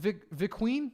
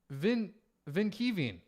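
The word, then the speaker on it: Vinkeveen: Hello from, how do I pronounce that? Is it Viqueen? Or no, it's Vinkieven.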